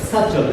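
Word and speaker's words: subtle: तो देखिए यहाँ पर है देयर इज अ सटल, इसमें बी साइलेंट है।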